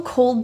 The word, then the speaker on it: cold: The L in cold is very difficult for people, so feel the tongue tip touching your roof of the mouth, full contact. Cold.